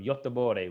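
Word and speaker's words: Göteborg: my wife is from from sweden from from yottabore which is uh gothenburg in uh you know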